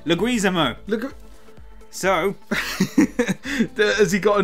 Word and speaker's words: Leguizamo: And let's try again with the pronunciation. Okay, so we got this wrong again last week. What did we get wrong? Leguizamo.